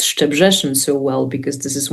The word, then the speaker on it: Szczebrzeszyn: So, and I've been there, so I know how to pronounce it. Szczebrzeszyn by Stephen Schwartz sounds very good.